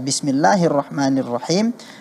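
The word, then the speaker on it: بسم الله الرحمن الرحيم: Muhammad catatan Ustaz pelafalan Bismillahirrohmanirrohim jangan terpengaruh dengan huruf ro ya jangan bismillahirrohmanirohim seperti ada wownya jadinya tertambah seperti itu ya kemudian huruf Kho dilafalkan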